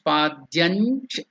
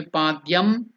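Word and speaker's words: पाद्यं: So it becomes padyanch. It should not be padyam. It should not be padyang. It should not be other way pronunciation. It should stress the cha, cha, ja, ja, the nasal this thing of cha.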